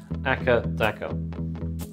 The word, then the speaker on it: AC/DC: In Australia, their home country, they're known simply as Akka Daka.